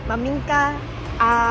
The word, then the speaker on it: maminka: Maminka.